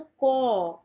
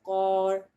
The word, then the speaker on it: corps: एक बार फिर से बता देती हूँ, इट्स अ कॉप्स Indian, it's अ कॉ British, it's अ कॉर American.